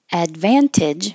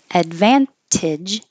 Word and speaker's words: advantage: like this focuses focuses Advantage with a t excuse me trying to avoid coughing in your ear advantage or drop the T Advantage Advantage is more common helicopter helicopter you can